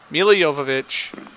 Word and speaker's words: Milla Jovovich: So, and yes, that's correct pronunciation of her name, according to her, Milla Jovovich from Resident Evil, which also features the Red Queen.